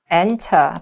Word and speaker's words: enter: 근데 우리가 정신을 차리면 device device 장치라는 단어 들리고 어 enter 발음을 좀 빨리 읽었어. enter에서 r 발음 가출해. Enter enter 뭐 이렇게 됐어.